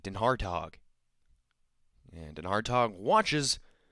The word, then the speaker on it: DenHartog: last names that you're probably ever gonna see it's spelled d-e-n Capital H a r t o g denhartog and an hard talk watches ball won a